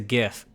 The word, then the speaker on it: GIF: It's a GIF. Hard G.